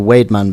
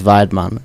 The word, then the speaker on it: Weidmann: like Wade, you see, it's got the W, so Wademan beer, but the pronunciation is Weidmann.